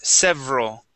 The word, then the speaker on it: several: practicing the V sound, several. Several. Several. Okay, several. So here, we want to go we're going to skip right over this E, okay? Mm-hmm. And instead of saying ral, several, it's several.